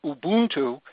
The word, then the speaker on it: Ubuntu: Linux is an operating system that you can download from the internet for free, and Ubuntu, or as it's properly pronounced, Ubuntu, is a free download, more coming in just a few moments.